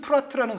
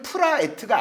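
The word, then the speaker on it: Praet: 아 발음이고 요즘 그 데니스 프라트라는 선수도 있죠. 그쵸. 네. 이 선수도 사실은 프라에트가 아닌 거죠. 프라트.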